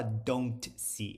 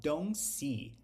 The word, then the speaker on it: don't: qualquer verbo auxiliar negativo a gente não pronuncia o t Quando o verbo seguinte começa com um som de consoante então aqui ele não fala don't see ele fala don't see don't see don't see